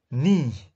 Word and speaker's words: knee: Knee, yeah, key is silent.